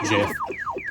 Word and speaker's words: GIF: Like, the creator of it has repeatedly said it's pronounced Jif in their internal developer